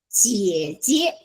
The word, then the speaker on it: 姐: how to say sister, 姐姐 okay, 姐 is J-I-E, you need to pronounce the J, okay.